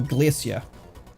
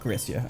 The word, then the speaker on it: Glacia: Oh, Glacia. Not Graia. I knew I was getting that name wrong.